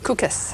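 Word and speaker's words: Kukës: an open field near and pronounce that k UK es cookus cookus in northern Albania where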